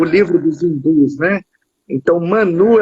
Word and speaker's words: Mãnu: Manu. Não é mano, é Manu. É porque tem trema em cima do U.